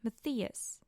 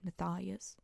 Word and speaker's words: Matthias: this entire story we also see Nina and Matthias. I know they say Matthias in the show, and I know a lot of people pronounce it Matthias, but where I come from we say Matthias, so get along with that.